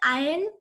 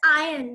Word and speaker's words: iron: But the other iron is pronounced as iron, not iron.